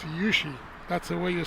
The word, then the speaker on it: Wuxi: I think I learned how to pronounce that. That's how you say it, Wuxi, right? Correct me if I'm wrong. It's an airport in China. I used to say it very very wrong, Yuxi or Wuxi.